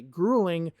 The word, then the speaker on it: grueling: Now, if you do look at the Merriam-Webster dictionary, they actually say grueling is the way that you pronounce it with the schwa sound or the sound in the middle of the word.